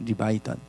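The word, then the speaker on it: לִוְיָתָן: 히브리어 발음은 리바이던입니다. 리바이던.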